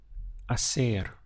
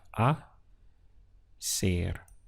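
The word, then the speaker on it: hacer: have an h but in spanish pronunciation the h is always silent it's ignored so your pronunciation really starts from here we have a ser aser is the verb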